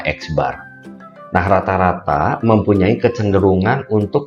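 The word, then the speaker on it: x̄: itu kita bilangnya atau kita bacanya itu adalah x bar nah rata-rata mempunyai kecenderungan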